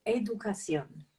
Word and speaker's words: educación: And that makes the pronunciation a little bit different, because the CI is like a TH. So educación. Educación.